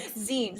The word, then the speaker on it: Tzeentch: name is Tzeentch. Who? And Wait, sorry, what? Tzeentch, it's, oh my gosh, you don't even want to know how to spell that. It's awful. Zinch? It's like Tzeentch.